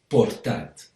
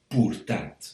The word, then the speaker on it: portat: Her sound in portat is portat, not purtat, so o, not u.